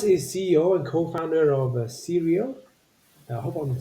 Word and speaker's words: Creal: stage so Thomas is CEO and co-founder of serial I hope I'm saying it right it is Syria right yes you'll be telling us about advances